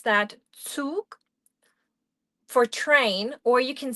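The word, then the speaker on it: Zug: We pronounce that touk for train or you can say eisenban for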